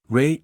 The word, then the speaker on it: Rei: Rei equals Ray Chandler. Same pronunciation.